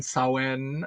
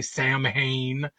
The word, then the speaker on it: Samhain: these kids on Halloween, on Samhain, is I believe how you say it, although I think they say Samhain.